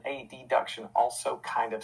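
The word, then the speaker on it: adduction: the same he said so i'll say abduction and a deduction and i'm like wait those sound the same too a b duction a deduction also kind of sound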